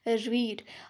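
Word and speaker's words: read: क्योंकि spelling same है तो ये रीड ही लिखा हुआ नजर आ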